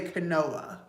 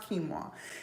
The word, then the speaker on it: quinoa: a okay kimoa or it looks like it should say Canoa that's how it looks but it's it's pronounced kimoa and I didn't know